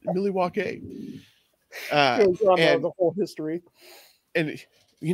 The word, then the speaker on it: Milwaukee: You know, in actuality, it's Millie Walkay. Yeah. That's right, Pete. It's pronounced Millie Walkay.